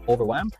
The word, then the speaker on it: overwhelm: over part overwhelming but more on the well part so we would say the word as overwhelm or in that case